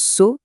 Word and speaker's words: Sǒ: Ça se prononce So et ça veut dire ami.